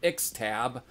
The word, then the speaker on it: Ixtab: So these 10 songs are beginning with the title track, going into Dance of Ixtab. Yes, that's how it's pronounced.